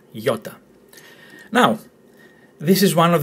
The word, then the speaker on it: iota: Ninth letter is letter iota, as in Toyota, iota.